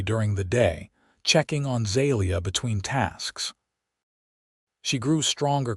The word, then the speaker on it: Zalia: Zelia. The name came out like music with emphasis on the second syllable. Zelia, he repeated, and she nodded.